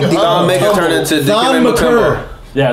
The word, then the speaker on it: Maker: Yo, Thon Maker out there like Thon Maker turned into Thon McCurr.